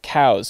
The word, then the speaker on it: Coues: And then, weirdly enough, apparently Elliot Coues' name should be pronounced cows.